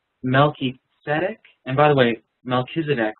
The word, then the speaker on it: Melchizedek: And by the way, Melchizedek, we often say it like that. It's actually a Hebrew word that is built off of two Hebrew words. Melchi and Tzedek.